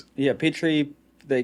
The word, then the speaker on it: Petrie: Yeah, Did I yeah, pronounce Petrie. You can call me. It's fine. Yeah, Petrie.